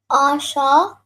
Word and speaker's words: Asha: So if you join the sha and the ha, it becomes sha, right? So instead of saying shaha, you would just say sha.